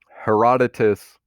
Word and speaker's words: Herodotus: So Herodotus is how this guy's name's pronounced, is the first true historian known in Western civilization.